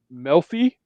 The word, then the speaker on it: Melfi: Theodore Melfi. Sure. Don't shoot the messenger. Melfi. So pronounce that however you want to, but just don't I'm flip the guessing E it's and Melfi.